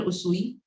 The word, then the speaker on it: Usui: Usui, that's how I pronounce Dr.